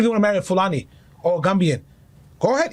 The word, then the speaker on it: Fulani: The only people I can understand the whole culture thing from is Fulanis.